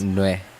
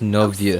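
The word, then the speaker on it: Neuvillette: on all the cases So that's in how to recent pronounce his years are name. It's kept. not Nue. If the It's Novieux.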